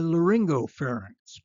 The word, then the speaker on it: laryngopharynx: oropharynx, the back of the mouth, and the laryngopharynx, close to the larynx. Notice the pronunciation of these words.